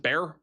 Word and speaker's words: Bexar: Is it Bear? Bear County? We're learning all sorts of pronunciations here tonight.